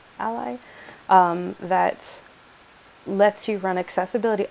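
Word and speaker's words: a11y: there's a suite called ember Ally testing that's spelled a 11y Ally that lets you run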